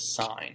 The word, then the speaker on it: sine: So we abbreviate it S-I-N, and even when we see it like that, we just pronounce it sine, right?